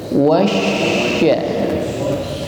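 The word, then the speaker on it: والشمس: Berikutnya, setelah huruf waw dihimpun bibir ke depan, maka langsung kita tekan pada huruf shin yang berharokat tasydid. Saya ingatkan kembali, setiap huruf yang bertasydid maka ditekan membacanya. Wasya.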